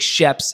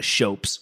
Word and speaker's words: Schoeps: I think Sheps is the way most people pronounce it, but I think sometimes it's pronounced Shopes, which sounds ridiculous. So let's go with the Sheps.